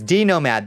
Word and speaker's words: D Nomad: was by the minute it's d nomad the x is silent a spacer to be precise perfect thank you d